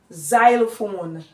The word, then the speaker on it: xylophone: which is letter x the letter X here is produced as z z z as in xylophone xylophone xylophone now listen